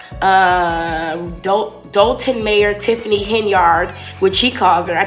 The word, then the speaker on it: Henyard: who are close to her don't call her Hind they call her henyard because that's how people pronounce her name that are close to her